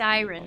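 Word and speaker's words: Dairon: This area, Dyren, appears to be Dyren.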